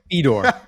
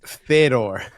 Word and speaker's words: Fedor: have two good point you can tell you're a casual Fedor very interesting it's Fedor go ahead go ahead